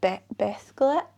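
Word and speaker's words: Beddgelert: Yeah, and then on the way back we stopped in a town called, is it Bethglet, I believe it's pronounced.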